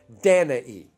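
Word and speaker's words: Danaë: daughter beautiful daughter named dana e though it's easier to just pronounce it danae danae or danae and a crisis heard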